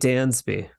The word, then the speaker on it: Dansby: a z instead okay like the great Dansby that's right as opposed to The Great Gatsby and then uh out